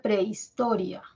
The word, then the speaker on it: prehistoria: si tenemos la palabra Prehistoria Prehistoria la H no cuenta H no cuenta cómo